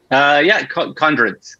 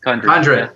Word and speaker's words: Condrut: Am I pronouncing that correctly? Condrut. Condrut.